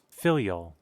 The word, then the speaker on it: filial: hold on everybody it says blind filial piety filial yeah that's how you say it okay I